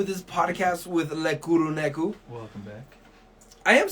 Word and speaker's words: Kuro Neko: Kuro is Japanese and Neko is Japanese, and technically, from what I've learned, Japanese is almost phonetically close to Spanish. Okay. So I feel like I'm saying it right, but then some people say I don't.